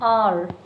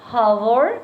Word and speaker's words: hour: A train is late by at least an hour. If I talk about this word hour, remember we discussed H is silent. So we will not say hour, we will say R. H is silent.